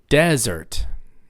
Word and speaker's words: desert: anything yeah everybody say desert desert y'all probably know what a desert is all right it's on the first syllable it's a hot dry place no rain but how